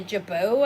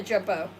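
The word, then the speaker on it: jabot: Okay, this is actually I guess a jabau I guess it would be.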